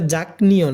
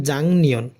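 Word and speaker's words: 작년: বছর জাংনিয়ন গত বছর এটা জাঙ্ক নিয়ন না এটা হবে জাংনিয়ন কারণ গিয়ক ভাসিমের পরে নিয়ন থাকলে গিয়কটা ইয়ং এর মত উচ্চারণ হয় জাংনিয়ন গত বছর ওরে এই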